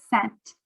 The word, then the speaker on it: scent: smells should be one scent the c is silent we do not go sk because this e after the c makes that c sound like an s so we already have